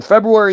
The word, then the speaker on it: February: that was underwater on February 16th again February not February you all say February why do you all say February his teachers are stupid it's clearly spelled February the r is silent no your your intelligence